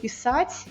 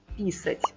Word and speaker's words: писать: Ou o exemplo famoso de писать, escrever, e писать, urinar.